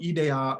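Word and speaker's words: ἰδέα: It's just pronounced differently. So ideia versus idea.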